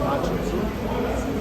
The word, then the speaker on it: Hatshepsut: I made more shame, say hat, suit, but cheap one. Hat, cheap suit. I know it's will let you pronounce the name 100% right, but I know it's she. Queen Hatshepsut.